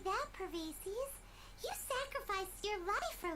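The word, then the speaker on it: Bosacius: Oh, Pervases, that's how it's pronounced.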